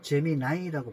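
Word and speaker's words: Gemini: 안 하고 제미니를 쓰는데, 제미니가 한국에서는 제미니라고 하고 외국 사람들은 제미나이라고 발음한다더라고요. 제미나이.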